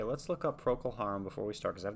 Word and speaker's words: Procol Harum: i spelled it wrong it's proc pro-kol harum pro-k pro-kil harem english rock band formed